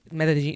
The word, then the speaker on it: Medellín: It's spelled like Medellín, but it's pronounced Medellín. Yes. So it's kind of hard to like say Medellín. You gotta have that little Medellín. But like soon if you're